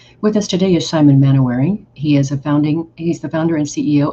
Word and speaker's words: Manohary: It's actually it's written Mainwaring, but it's actually pronounced Manohary. So like Manohary.